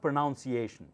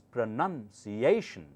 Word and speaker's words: pronunciation: pronouncing it listen carefully it's not pronunciation it's pronunciation pronun n u n pronounce has OU so you say pronounce but this noun has pronunciation pronunciation your English pronunciation will